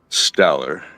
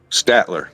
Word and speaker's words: Statler: Autumn uh waldruff um for the summer and staler staler uh St I don't know if I'm how do you pronounce his name stal staler there we go